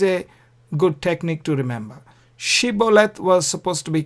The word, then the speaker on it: Shibboleth: Shibboleth was supposed to be correct, whereas the Benjamites pronounced it wrongly. We read about it in the Bible. They pronounced it Sibboleth instead of Shibboleth.